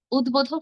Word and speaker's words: উদ্বোধক: ব এর উচ্চারণ করব যেমন ধরুন উদ্বোধ উদ্বোধক শব্দে কিন্তু আমরা ব এর উচ্চারণ করছি।